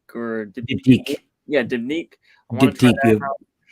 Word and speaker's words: Diptyque: So to answer that question for me, I guess I have to say probably I don't know how to pronounce it, but Diptyque or Diptyque. Yeah, Diptyque.